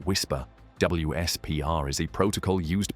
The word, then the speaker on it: WSPR: Utilizing a global network not designed for aviation tracking at all, the weak signal propagation reporter network or WSPR, often pronounced whisper, WSPR is a protocol used by amateur radio operators worldwide to test radio propagation conditions.